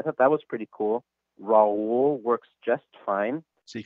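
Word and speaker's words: Raúl: aka raoul the third my name is sometimes difficult for some people to pronounce because it means that you have to roll your r's and that's done by rolling your tongue towards the front of your mouth like this if you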